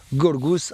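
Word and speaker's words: Γιώργος: et georges est là quand ça se prononce gourgousse à en grec voilà ça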